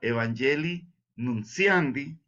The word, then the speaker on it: Evangelii nuntiandi: 18 de la evangeliunciandi se escribe evangeli Así como se oye eg evangelii nuntiandi nuntiandi pero se pronuncia evangelii nunciandy dice él evangelizar significa